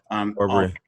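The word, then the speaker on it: Arbery: Aubrey, how do I pronounce his name? Aubrey.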